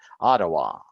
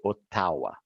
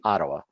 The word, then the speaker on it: Ottawa: not in English so they learned the right pronunciation Ottawa if they say Ottawa that's ok too but usually in Brazil they say Oh tawa so I told them in English we say Ottawa and it's located in the province of Ontario